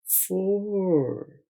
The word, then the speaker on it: four: अब देखिए फ और, फ और, फोर यानी चार। आपने स्पेलिंग में FOUR याद रखना है। FOR आपको आवाज समझाने के लिए इस्तेमाल किया है।